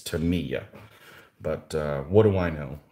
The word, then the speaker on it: Tamiya: of those models and i always called them tamaya but apparently i've been saying it wrong the whole time it's tamiya but what do i